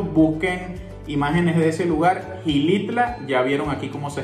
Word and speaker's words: Xilitla: Bueno, la siguiente palabra, aquí nosotros le decimos Gilitla. ¿Tú cómo le dirías? Yo ya sabía que se pronuncia Gilitla, pero yo creo que los venezolanos dirían como Chilitla.